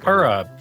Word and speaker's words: Purah: Purah. Purah.